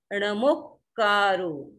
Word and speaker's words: णमोक्कारो: अब जोड़कर के बोलेंगे तो आपका एकदम शुद्ध उच्चारण हो जाएगा णमोक्कारो पधारो सब पावप्पणासणो पावप्पणासणो ऐसा भी मिलता इंटरनेट